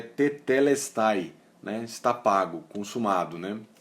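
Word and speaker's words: τετέλεσται: A pronúncia é tetelestai, né?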